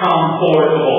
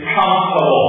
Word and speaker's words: comfortable: pronunciation is comfortable not comforable the pronunciation is comtable can you pronounce the word com com comtable good the pronunciation is not comforable the pronunciation is comfortable comfortable good very good so